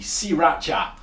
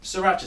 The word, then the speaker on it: sriracha: a big thumbs up the people at sriracha we probably pronouncing it wrong boo he looked a video on the internet it should be SI racha but sriracha sounds better yeah anyway um were